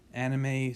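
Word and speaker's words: anomie: have something called anime whoops went away okay pronounced yes so this is called anime so norms are weak conflicting or absent um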